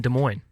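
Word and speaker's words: Des Moines: while I was in Iowa I lived in De Moine yeah not de MO Des Mo desm yeah it's French for the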